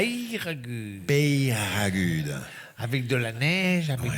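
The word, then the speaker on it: Peyragudes: Et si elle a gagné un week-end à Eragude. Non, prononcez comme il faut, Maître Lelon. Un week-end à Peyragude. À Eragude. Peyragude.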